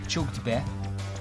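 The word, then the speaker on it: csukd be: then a space bar b e but it's pronounced CH u g d because it's a lot easier to say chuk be then CH you know that's the only time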